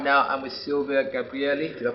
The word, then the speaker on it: Silvia Gabrielli: Hi guys, still at the Global Agile Development and Innovation Summit in London, and right now I'm with Silvia Gabrielli. Did I pronounce that right?